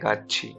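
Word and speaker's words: 같이: अगर इसे पढ़ते हैं तो क्या पढ़ते हैं गाछी। ठीक है, इसी प्रकार से अगर इसके नीचे थिगत भी होगा तो हम इसको प्रोनाउंस क्या करेंगे गाछी।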